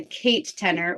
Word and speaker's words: Katenor: new to this so it's my name Kate and the word tenor and then that's just